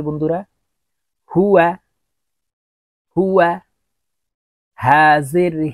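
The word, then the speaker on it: هُوَ: মা মা মিম জবর মা আইন জের আই মাই মাই হা পেশ হু ওয়াও জবর ওয়া হুয়া ওয়াওকে ঠোঁট গোল করে উচ্চারণ করতে হবে বন্ধুরা। হুয়া হুয়া হাজির হি ইয়া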